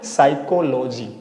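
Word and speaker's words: psychology: तो पी को हम क्या करेंगे? साइलेंट कर देंगे। उसको नहीं पढ़ पाएंगे। अभी भी बड़ा खतरनाक लग रहा है। फिर नहीं पढ़ पाएंगे इसको। लेकिन इसको पढ़ेंगे क्या? साइकोलॉजी।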